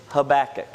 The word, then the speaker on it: Habakkuk: been saying it right it is habakkuk okay so if you say habakkuk you said it right if you say anything else sorry but you're wrong uh there are a